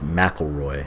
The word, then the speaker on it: McIlroy: Rory McIlroy PGA Tour I'm pronouncing his name wrong it's McElroy hello again everyone this